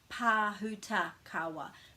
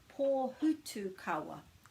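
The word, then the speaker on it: Pōhutukawa: But you might pronounce that as Pāhuta Kawa. But it's actually pō, and there's a macron over the O, so that's where the stress is in the word, the emphasis.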